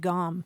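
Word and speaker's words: gaum: But usually it's spelled G-A-U-M. We should say that, gom.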